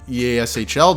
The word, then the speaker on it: EASHL: goalie since the early EASHL days, which is exactly how you pronounce it by the way, I'm not sure what eShell is, nobody knows what eShell is, and you completely made that up.